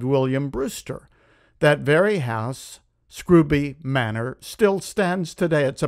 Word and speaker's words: Scrooby: Up in Scrooby (pronounced Screw-bee), England, well north of London, there was a congregation of about a hundred members led by, among others, Pastor John Robinson.